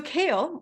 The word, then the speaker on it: CAEL: know I'm sure but the reason we spell it this way is because the four letters that make up the word kale are actually an acronym.